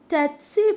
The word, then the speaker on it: tsetse: So tsetse fly, or somewhere it is pronounced like sea fly.